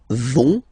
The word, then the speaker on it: vont: you don't pronounce it, so ils vont, final T, not pronounced.